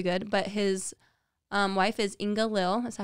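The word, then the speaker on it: Inga-Lill: that was really good, but his wife is Inga Lil. Is that how you pronounce That's it?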